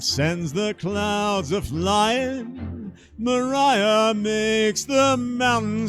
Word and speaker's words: Maria: okay we're moving on they called a wind maria only they pronounce it Mariah now wait out here